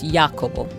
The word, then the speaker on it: Jacopo: He's Italian, and I believe the Italian pronunciation is Jacopo.